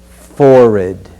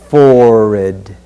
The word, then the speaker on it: forehead: focus word is forid there are three professional dialect pronunciations of this word but we're going to pronounce it as forid one more time forid forehead the final focus